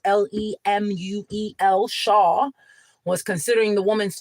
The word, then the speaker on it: Lemuel: While Justice Lemuel Shaw was, or Lemuel, I would say it is pronounced Lemuel, Shaw, was considering the woman's fate.